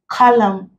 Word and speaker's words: column: This ng, column. Here the N is silent. N is coming before M at the end of the word, it's silent.